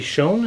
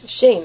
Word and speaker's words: Schoen: And with us today is a very special guest, Schoen. Am I pronouncing that right, I hope? Shane. That was Shane. very close.